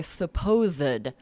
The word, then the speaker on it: supposed: So as an adjective, we'll say supposed. And here we're making it 3 syllables and we pronounce that ed.